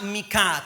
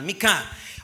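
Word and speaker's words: מיכה: que significa en hebreo miqueas se pronuncia mica con h al final mica o mika o me calla me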